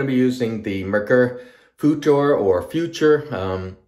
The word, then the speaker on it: Futur: Also, we're going to be using the Mercury Futur or Future. The F-U-T-R, the way it's spelled, roughly translates to future anyway, so it's just easier for me to call it future.